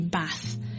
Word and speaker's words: bath: long agent which is present in RP English there's an almost like an a sound instead so instead of bath it will be bath the next vowel is